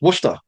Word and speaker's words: Worcester: Yeah there's there's a great town if if you you have to pronounce it correctly. It's Worcester. Now, it's really, you know, spelled Worcester, like it's really it's Worcester and they'll they'll know you've been there before, but great town for investing.